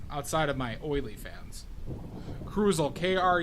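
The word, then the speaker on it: Kruzl: and then my uh IRL name is cruel crule that's spelled KR u z l this might be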